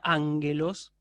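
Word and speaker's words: ἄγγελος: Recuerden que la gama anteconsonante gutural, ¿sí? O sea, la gama que está antes de capa, antes de ji, antes de xi y antes de otra gama, esa gama se pronuncia como la N de hongo, ¿sí? Por ejemplo, ustedes lo tienen en la palabra ángelos. Es una palabra que se escribe con dos gamas, pero la primera de ellas se pronuncia como una N, ¿sí?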